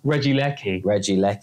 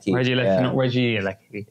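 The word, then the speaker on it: Regieleki: just said the same thing twice apparently it's pronounced Reggie Lecky Reggie Lecky yeah and garganicle is meant to be garganic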